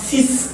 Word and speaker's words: six: commence par une consonne ces adjectifs numéux comme 5 6 et d'autres qu'on va voir la prononciation de la lettre finale sera muette donc ici je n'ai pas six chemises j'ai six chemises la lettre finale la lettre en question est muette donc si chemises si personnes six personnes six